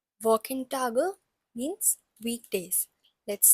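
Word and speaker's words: Wochentag: first lesson firstly we'll learn the walk T walk in tag means weekday let's say it once again walk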